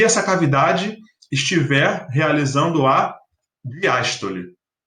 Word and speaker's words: diástole: E olha como a diástole é mais relaxada, porque a sílaba tônica é aberta, né? O fonema é aberto, a diástole. Olha como relaxa, diástole. Então, vê se você consegue